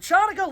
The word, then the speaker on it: Hanukkah: Hey, look, it looks like Hanukkah, pronounced like Chanukah, looks neat, sounds cool.